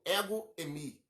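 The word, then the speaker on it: ἐγώ εἰμι: a o grego, mas no grego a palavra eu sou, tá falando, a palavra eu sou significa não, é pronunciada como ego-emi, mais ou menos isso, tá?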